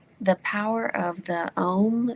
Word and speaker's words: Om: So Om, in its three syllables, um, represent like the